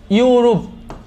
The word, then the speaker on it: ইউরোপ: এর মত হয় যেমন ইউরোপ ইউরুপ এটা আমরা ইউরুপ বলি এটার আনসারটা হবে হচ্ছে